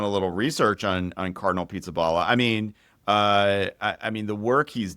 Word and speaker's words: Pizzaballa: from Jerusalem, yes, Cardinal Pizzabella. Is that how you say it? Pizzaballa, yes, Pizzaballa.